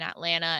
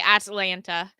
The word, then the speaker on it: Atlanta: it weird I think I don't pronounce the T I don't say Atlanta I say Atlanta Atlanta that's what it